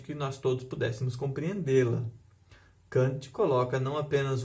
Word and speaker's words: Kant: O segundo é Immanuel Kant, ou a pronúncia mais correta seria Kant, mas eu acho meio feio falar Kant.